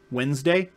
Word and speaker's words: Wednesday: There's a reason why Wednesday is not spelled W-E-N-S-D-A-Y, is because it's not Wednesday. It's Wednesday. It's Woden's Day.